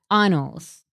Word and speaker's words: annals: It's pronounced annals. Annals. It's annals, guys.